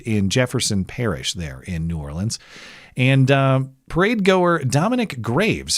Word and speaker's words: New Orleans: I go for New Orleans. Nawlins, I believe the locals say.